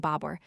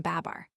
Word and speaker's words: Bābur: supports the spelling Babur by making the second syllable rhyme to pur, as against the form Babar.